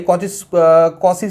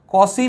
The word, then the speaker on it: Cauchy: but mathematician कॉशी ने एक principal जिसको बोलते हैं कॉशी जनरल